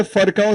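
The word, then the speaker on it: Virchow: I hope you know that this is F not V and it is not vow. It is pronounced F. You're going to the US. You can't call it for.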